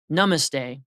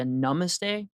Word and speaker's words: namaste: they say this word namaste a lot of times they're mispronouncing it they're saying not you're saying namaste from what I understand it's a little bit closer to namaste and it actually just